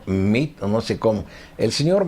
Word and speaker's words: Meade: ONU al Señor meade yo le digo meade porque así se escribe su apellido creo que él no le gusta que le digan meade sino mito no sé cómo el